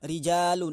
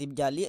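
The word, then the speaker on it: رِجَالُ: Rijalu dibacanya, enggak rijali, enggak rijala. Karena jamak taksir rofanya pakai doma.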